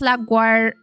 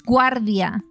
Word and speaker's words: LaGuardia: LaGuardia is pronounced Lagu. No, it's Guardia. Ah, Gaia.